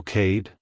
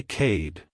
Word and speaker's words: Kade: To pronounce it correctly, emphasize the K sound at the beginning and the D sound at the end. Keep the vowel sound short and crisp. Like, hello Cade. Goodbye Cade.